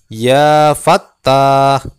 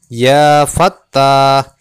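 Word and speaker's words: يا فتاح: Yang Maha pembuka Rahmat cara membacanya Bagaimana awali dengan menggunakan huruf Nida ya menjadi ya Fattah ya Fattah ya Fattah kemudian Asmat yang kedua adalah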